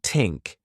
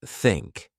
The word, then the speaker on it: think: For pronunciation, you might struggle with the thia sound, saying tink instead of think. I used to do that too. Practice by putting your tongue between your teeth and blowing air, like think.